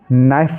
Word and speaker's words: knife: KNOB इसको only knob पढ़ेंगे, कनॉब नहीं पढ़ेंगे, ओनली नॉब, क्योंकि इनमें के साइलेंट है। ऐसे ही KNOW इसको हम नो पढ़ेंगे, नो। KNIFE नाइफ पढ़ेंगे इसको, ठीक है।